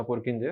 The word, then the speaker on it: Purkinje: तो जो टर्म थी प्रोटोप्लाज्म वो किसने दी, तो उसका नाम था पुरकिंजे। परकिंजे भी बोल सकते हैं, अपन ने बोला पुरकिंजे।